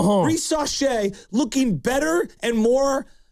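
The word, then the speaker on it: Risacher: Zachariah, how do you pronounce it? Risache. Risache looking better and more like fluid of a player than any of our recent draft picks.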